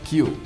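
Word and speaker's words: 九: apenas no dia 9 o número nove em japonês se pronuncia kill e pode ser entendido no próprio japonês como morte além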